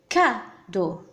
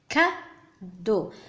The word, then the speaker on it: cadeau: لدينا هنا لو كادو. كادو. الحرف سي هنا ينطق ك.